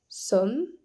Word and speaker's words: sommes: on ajoute un T nous sommes avec un e s même s'il ne se prononce pas vous êt attention ici